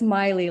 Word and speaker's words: Miley: Oh, it's Miley, like Miley Cyrus.